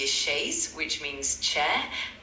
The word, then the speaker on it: chaise: In French, the letter C is often pronounced like an S before certain vowels, but when it's followed by an H, it creates the CH sound. So chaise starts with the letter C and it's pronounced with that CH sound.